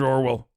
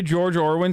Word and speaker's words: Orwell: You say George Orwin so much, I forget that it's Orwell, to be honest.